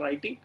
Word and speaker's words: writing: So reading R, writing is W, I know, but it's pronounced writing, and arithmetic R.